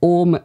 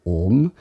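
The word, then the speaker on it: AUM: So Orm, A-U-M, Orm.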